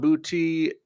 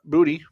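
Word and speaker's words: Boutte: Khan Bouty, uh, Booty, sorry, is that's how it's pronounced.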